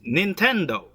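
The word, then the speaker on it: 任天堂: The other Japanese characters are pronounced Nintendo and constitute a fanciful expression having no precise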